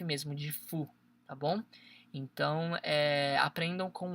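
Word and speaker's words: ふ: Este aqui, galera, tipo assim, é um hu, mas na verdade a gente fala fu, entendeu?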